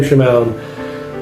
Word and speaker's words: Shamoun: I might be probably mispronouncing that last name, but Sam Shamoun, that's how I pronounce it.